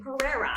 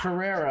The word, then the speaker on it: Pereira: You didn't say it right. Can you say it for me? Pereira. Pereira. It's not hard, man.